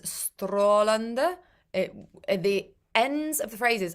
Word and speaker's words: strålande: Jul, jul, strålande jul. So it's a very English pronunciation to use the sound. Strålande. It's not. It's strålande jul. Lifted at the ends of the words.